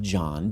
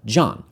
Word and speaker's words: John: “Hannah,” and you get “John” (not so incidentally, that stray “h” in there, a letter we don’t pronounce, is left over from the Hebrew like a vestigial organ).